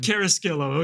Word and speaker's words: Carrasquillo: Carrasquillo. Okay, that's right, the American version.